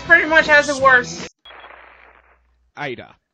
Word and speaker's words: Ada: Ada. It's pronounced Ada.